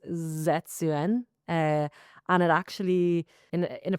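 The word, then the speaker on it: 絶縁: The song is in Japanese, but when I looked up how to pronounce it, it's supposedly pronounced Zetsuen.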